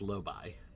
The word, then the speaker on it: Lobi: So, so on Deep Space 9, it's pronounced Lobby.